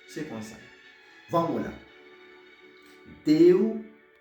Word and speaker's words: Deuteronômio: Deuteronômio. Deuteronômio. Pour ça, me dit non, on va me dire plus fort, me tenir sur lui parce que c'est syllabe qui porte accent.